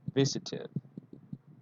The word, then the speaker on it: visited: Visit finishes with the t sound. So the pronunciation is, with id. Visited, visited.